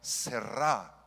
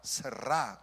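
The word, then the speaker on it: זרע: La palabra simiente, ya no tenemos mucho tiempo para explicar esto, pero es la palabra hebrea serrá, serrá, con acento en la A y doble R.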